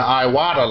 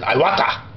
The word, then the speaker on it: Iwata: Me personally, I say it like a fat Japanese man, Iwata, because I think it's a Japanese name.